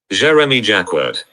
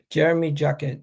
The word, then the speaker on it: Jérémy Jacquet: How do you pronounce his name? Jérémy Jacquet. Jérémy Jacquet.